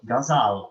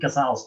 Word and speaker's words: ghazal: I always get worried because I never quite know how to pronounce this word because one is told so many different pronunciations. But ghazal, I think Mimi, that's what you said, and I take that as fairly authoritative.